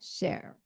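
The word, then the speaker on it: נֶשֶׁר: Nisher. Nisher. Nesher. Nesher.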